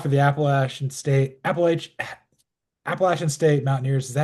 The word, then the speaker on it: Appalachian: Appalach Appalachian State Mountaineers. Is that how you say it or am I saying it wrong? No. Appalachian is correct. Don't not a long a Appalachian State Mountaineers.